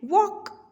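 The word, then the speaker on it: walk: वॉक, देखिए वॉक जब हम बोलते हैं तो एल जो है वो साइलेंट आता है, वॉक.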